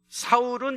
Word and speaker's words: 사울: 됐다 얘기하는데 그거 아닙니다 사울은 히브리식 발음이고 바울은 헬라식 발음입니다 그래서 히브리식 발음으로 할